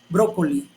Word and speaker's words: brócoli: Brócoli. En la palabra brócoli tiene acento en la última, penúltima, antepenúltima sílaba, que es la tercera sílaba, tercera vocal, y vemos el acento en la O.